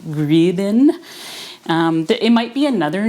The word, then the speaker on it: gribenes: crispy bits called um gribens if you're german i think we pronounce it grievin it might be another